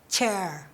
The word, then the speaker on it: chair: แล้ว เสียง CH ล่ะ เสียง CH เป็น เสียง ที่ ใน ภาษา ไทย ไม่ มี นะ ลูก เสียง CH ออก ยัง